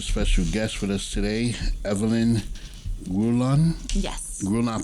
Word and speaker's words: Grullon: We have a special guest with us today, Evelyn Grullon. Yes. Grullon, I pronounced it right? Grullon. Grullon, put the mic closer.